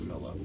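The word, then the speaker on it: Milla: And I will call you Mia if you prefer, but your name is pronounced Mila, so fuck.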